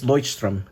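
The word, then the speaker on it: Leuchtturm: I don't know how to pronounce that. It is I think it's loystrom. I think it's German for lighthouse.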